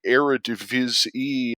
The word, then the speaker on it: Eredivisie: And the reason that we bring up the Eredivisie or the Eredivisie is, I believe, actually the correct pronunciation.